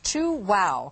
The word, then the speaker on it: Chuao: okay and the pronounced two wow kind of like that yeah you chew and then you say wow that's right very easy